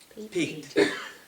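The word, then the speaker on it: pique: so I had her Peak she was peaked I peaked her interest I peaked her curiosity so that Peak it's not p e a k it's p i q u e and and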